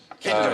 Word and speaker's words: Kinder: It is actually rhymes with Tinder egg. Kinder egg.